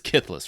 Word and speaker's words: Kithless: It's Kithless, right? That's pronounced? Yes.